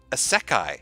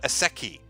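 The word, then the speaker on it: isekai: From Blue Satoshi, it's pronounced Asekai, not Aseki.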